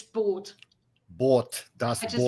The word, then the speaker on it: Das Boot: Since Gambit is mentioning it and I keep hearing it mispronounced, it's not boot, it's boat.